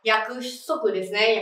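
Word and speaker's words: 約束: trong L4 rồi này từ này có cách đọc là yaku souther hoặc là lời hứa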